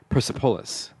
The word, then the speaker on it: Persepolis: You know, I actually recently heard that I don't remember Satrapi pronouncing it as such, but people from Iran actually pronounce it Persepolis.